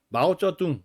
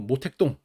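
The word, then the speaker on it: 毛澤東: 근데 옛날 여러분들 그 부모님이나 이제 할아버지 세대들은 마우쩌둥 이렇게 안 읽고 모택동 이렇게 읽고 그죠 그다음에 그 등 덩샤오핑 요렇게 발음하지 않고 등소평 렇게 읽었었고 어 그래서 지금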